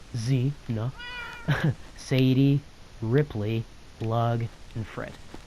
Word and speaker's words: Xena: I know it has an X in it, but we pronounced it Z-na.